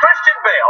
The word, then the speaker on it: Christian Bale: All right, his second name sounds a bit like when you put Hail. Yeah, you know, no, Hail. Because it sounds like Hail, because it rhymes with Hail.